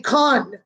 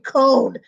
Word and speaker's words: cone: Because if you didn't write the E, friends, it would say con. It would have that ah like octopus. But having the E there makes him say his name, cone.